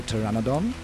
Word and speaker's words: pteranodon: Also, we need to find a name for the pteranodon where the P is silent and then take revenge on the raptors and then make our way to the green no obelisk.